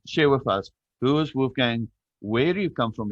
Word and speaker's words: Wolfgang: Wolfgang.